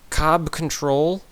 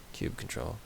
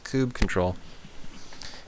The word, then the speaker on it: kubectl: Okay, how to pronounce this? Cob control? Cube? It is cube. Cube control. Cube? Kubernetes? Oh, Kubernetes. Kube control. Kube control, label pods.